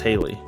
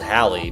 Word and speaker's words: Hallie: I think it's Haley. It's spelled Hallie, but I think they say Haley in the movie.